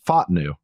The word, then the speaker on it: Fautanu: in a row, Troy Fautanu, or did I pronounce his name right? It's apparently it's Fautanu.